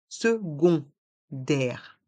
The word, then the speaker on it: secondaire: dans le mot secondaire le C se prononce gu car c'est plus simple à prononcer et le O et le N font le son on second et non sec secondaire le a et le